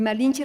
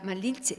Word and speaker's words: Malinche: Entonces, Marina se convierte en Malina, Malintzin, que es el sufijo reverencial, que pronunciado por algún español puede soñar a Malinche, esa che española, ¿no?